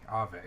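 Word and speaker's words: Auvae: So Alve, A-U-V-A-E. A-U-V-A-E. Ave.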